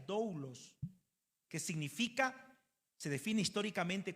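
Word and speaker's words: δοῦλος: Servir en la Biblia, en la Biblia, dentro del idioma griego, la palabra siervo se traduce con una palabra que se pronuncia doulos.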